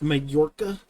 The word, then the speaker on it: Mallorca: polydev when you see that's mallorca it's an actual island off the spanish coast that's pronounced majorca i'll bag a big